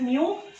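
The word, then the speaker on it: μ: तो देखो 3 वेरिएबल्स है, म्यू, this is pronounced as म्यू, c एंड v, ये 3 वेरिएबल्स हैं, 3 में से 2 गिवन होंगे, थर्ड आपको फाइंड आउट करना है।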